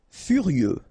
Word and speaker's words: furieux: Furieux, okay, final X not pronounced, furieux, furieux.